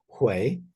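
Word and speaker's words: 回: And this is a character that in Chinese is pronounced hui, or in Sino-Korean is pronounced hui, and it means to return or circle back.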